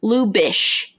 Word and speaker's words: Lubitsch: forget it Oh Lu it looks like Lubitsch but it's lu b itsc 8 lu bish do